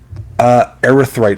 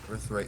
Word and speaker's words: Erythrite: Erythrite Throne. So it's spelled ERYTHRITE. Earthright Throne.